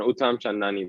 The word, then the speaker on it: Uttamchandani: I haven't butchered your surname, have I? No, you did okay, man. Uttamchandani, but thanks a lot.